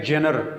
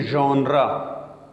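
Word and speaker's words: genre: आप देख ले तो ये दिखने में लगता है जेनर या जेनर लेकिन उसको पढ़ेंगे जोंद्र नेक्स्ट इससे पहले मैंने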